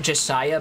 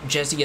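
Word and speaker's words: Jesiah: explicitly in game but jessia is meant to be a portmanteau of his name jesse and the word messiah okay i considered pronouncing it josiah but jessia sounds a bit more organic she says thank you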